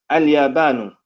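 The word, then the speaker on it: اليابان: It's pronounced with the alif lam, but we don't say, and when we translate it, we don't say the Japan. In Arabic, it has the alif lam attached, but in English, we do not say the. So it's pronounced as Al-Yabanu, and translated to Japan without the.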